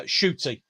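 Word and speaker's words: Ncuti: classic 80s fan boy thanks for that uh shooty shooting thank you thank you very much i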